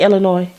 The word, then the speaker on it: Illinois: How you say Illinois? Illinois. Oh, Wait, Illinois. I guess I said it first. Illinois. No, I never said Illinois. because the S is silent, like patois.